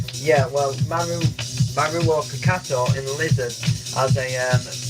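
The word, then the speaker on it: Mauro: I always used to think it was Mario, but it's not. It's Maruo, I think is pronounced as.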